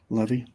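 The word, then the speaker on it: Levis: so um pressure Levy is it Levy or Levi how they how do they pronounce it over there in Tennessee Levy Levy okay yep pressure him um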